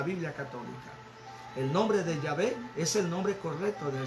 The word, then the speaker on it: Yahvé: Entonces el nombre del Señor viene a pronunciarse Yahvé, y como la pronunciación hebrea no pronuncia la H, entonces se pronuncia Yahvé.